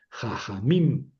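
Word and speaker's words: חֲכָמִים: Es un patajatef. suena como a jajamim.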